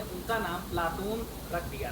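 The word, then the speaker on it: Πλάτων: प्लेटो शब्द का शुद्ध यूनानी उच्चारण प्लाटोन है।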